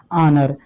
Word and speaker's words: honour: देखिए HONOUR, इसको क्या पढ़ते हैं, ऑनर। इसको हॉनर नहीं, इसको हम ऑनर पढ़ते हैं।